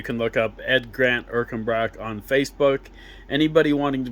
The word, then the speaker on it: Ercanbrack: It's like I said, it's Ed Grant Erkenbrock, and that's spelled ERCANBRACK.